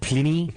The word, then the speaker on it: Pliny: I think you mean Pliny. It's pronounced Pliny, and I prefer to say Pliny.